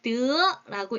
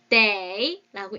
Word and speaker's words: 得: 첫 번째, 드라고 읽을 때에는 중국에서는 동사로서 얻다예요. 드, 우리 획득,得到 이렇게 얘기를 하거든요. 얻었다 이렇게 얘기하거든요. 자, 두 번째, day라고 읽을 때에는요.